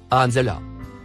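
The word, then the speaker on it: أَنْزَلَ: Le troisième mot en surbrillance jaune se prononce anzala.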